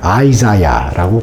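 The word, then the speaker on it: Isaiah: 실제로 이사에서 46장에 보면은 미국 사람들은 그걸 아이자야라고 발음을 합니다.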